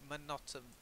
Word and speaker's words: monotonous: Well, I say monotonous, so I use the schwa, okay? Monotonous, okay?